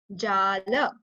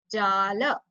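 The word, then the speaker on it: जाल: Prakara Jala. Jala. Whenever you see like this line over A, so it means you have to stretch the A.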